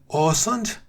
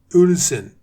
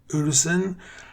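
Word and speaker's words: Øresund: It's called Orsund. In British pronunciation is Orsund, and the local pronunciation is Ulsen. I'm not Danish, so I can't say it properly. I'm just trying. Ulsen is the way they say it, but it's written Oresund.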